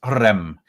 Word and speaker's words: rem: So the double R just means that you have to roll the R. So it's rem.